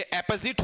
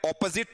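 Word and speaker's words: opposite: हां अपोजिट क्या है ये अपोजिट होता है ऑपोजिट नहीं होता है अपोजिट क्या बोला जाएगा अपोजिट बोला जाएगा और वोह वाला वर्ड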